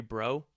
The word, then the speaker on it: Breault: I was like, no, I want to see your Breault collection. And and I kept insisting on it. And finally they politely said, the Breault family here pronounces it Breault.